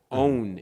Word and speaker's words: On: Because if you notice, On is what you do when you turn your light on. On. On is how you really pronounce it.